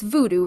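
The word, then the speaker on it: Vodou: how you say uh it's Voodoo right but it's spelled v o d o u yes so Voodoo meaning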